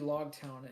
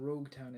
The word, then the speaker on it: Logtown: Um, so it's actually Logtown, and then Nami talks about how Logtown is where Gold Roger was born, and and where it's okay.